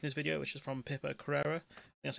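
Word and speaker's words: Pippa Crerar: I was making this video which is from Pipper Carrera, that's how you pronounce her name, saying boss in the UK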